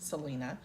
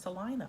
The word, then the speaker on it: Salina: I called it Salina for a whole 2 weeks, and then somebody that was from up that way said it's not pronounced Salina. It's pronounced Salina, Ohio.